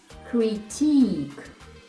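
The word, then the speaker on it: critique: читаємо Check наступне слово crytick наголос на другий склад кит на к зупинилися далі не читаємо круті означає критика також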